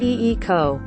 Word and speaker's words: Yiko: had to say okay yiko pronounced ee ko i'm here said the